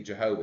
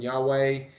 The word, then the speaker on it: Jehovah: in Hebrew and the W just like in German W is the V sound uh and so the German pronunciation would be Jehovah if you ever wondered what's the difference between Yahweh and Jehovah it's who's